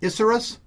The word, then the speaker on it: Isurus: the inner ear headphones I think they pronounce these issaurus These are really cool